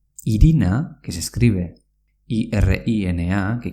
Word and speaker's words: irina: Irina, que se escribe I-R-I-N-A, que quiere decir harina, se pronuncia iriña, aunque se escriba con una N.